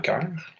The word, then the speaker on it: cœur: Dans les O, il y a des O muets comme dans cœur. Si on faisait seulement C-E-U-R, ça se prononcerait sœur, mais on met un O pour durcir le C.